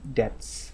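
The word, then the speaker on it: debts: And staggering public ডেটস, এখানে beta উচ্চারণ করা যাবে না, ডেটস মানে ঋণ।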